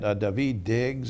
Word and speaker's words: Daveed Diggs: under 911 when it was rebuilt ok and daveed Diggs and did I pronounce that correctly April night that's correct daveed